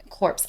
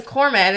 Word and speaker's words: corpsman: Yeah, so corpse. I know. I said corpse. C-O-R-P. Is it not? No, it's spelled like that, and so I thought I've been saying it wrong because I'm like, oh, he's a corpsman, and then I'm like, no. Then I read it as corpsman, and I was like,